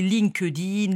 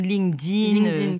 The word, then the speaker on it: LinkedIn: Donc est-ce que je le prononce bien déjà ? Oui. Parce que tout le monde dit LinkedIn. LinkedIn, parfait. C'est ça, c'est LinkedIn.